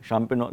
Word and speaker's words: Champignon: Kauft Tomaten, Champignons. und Salat. No G, yeah? Champignon, the G is silent.